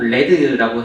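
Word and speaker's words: lead: 이게라고 이제 되어 있는데 그 발음을 꼭 레드라고 해야 교수님들이 화를 안 내시라고 리라고 읽으면 굉장히 화를 내십니다 레드라고 부르고요이 왼쪽 아래에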